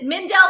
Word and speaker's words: Mindell: Is it Mindell or Mind? Like, you know, I always accentuate the wrong syllables. Yeah, that's a good question. People call it, say, all kinds of things, but it's Mindell.